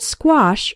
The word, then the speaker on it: squash: English vocabulary word of the day squash from espresso english. net first let's work on the pronunciation SQ sounds like in the word square the letter A has the a sound like in father and wash and the final sh